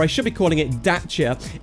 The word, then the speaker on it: Dacia: Renault now that's because daia or I should be calling it daa if I was to use the correct pronunciation uh for Romanian uh daa are owned